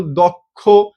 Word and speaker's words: দক্ষ: এই ও এর উচ্চারণ ও এর মত হয়ে যায়। তারপর দক্ষ বলে কি?